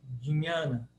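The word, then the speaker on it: jñāna: letra tem um som então o J tem som de d d e o o n palatal como eu falei NH sou dinhana dinhana dinhana di nhana Diana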